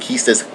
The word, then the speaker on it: Quistis: Although I really prefer Quistis instead of Quistis, but apparently Quistis is the official one.